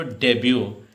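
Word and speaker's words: debut: हो, कहीं भी हो, तो डेब्यू, टी साइलेंट हो जाता है।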